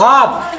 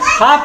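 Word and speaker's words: half: एच इ एल एफ हाफ हाफ मतलब आधा इ में कहा L silent L आई एस टी एन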